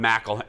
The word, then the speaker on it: McElhenney: I would have done McElhenney because they're really stressing, not Mick.